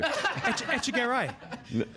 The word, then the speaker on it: Echegaray: Echegaray.